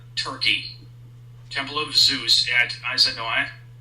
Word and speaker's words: Aizanoi: Temple of Zeus at Izanoi, that's spelled Aizanoi, near Katuya, Turkey.